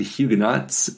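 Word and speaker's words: Huguenots: the pronunciation and um the English pronunciation is indeed hugenots and the French pronunciation is at least some something close to Hugo uh so I guess we were kind of right kind of okay but yeah so I guess the Doctor Who pronunciation is the French pronunciation in an English accent uh seems like a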